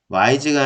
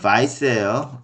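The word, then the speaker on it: Weisz: 와이즈가 아니라 바이스예요. 아버지가 좀 뭐 유택의 헝가리 사람이라서 독일 발음으로 바이스 그렇게 하면 되겠죠.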